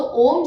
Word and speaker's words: ओम: तो ओम जो है वो तीन साउंड से मिलकर बनता है। आ, ओ और म।